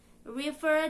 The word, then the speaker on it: river: say actual by ficto river does not rhyme with diver faux fur dress and